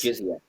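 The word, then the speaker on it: jizya: things like it's J I Z Y A Jiza is that how do you say that word the tax? Jiza Jiza.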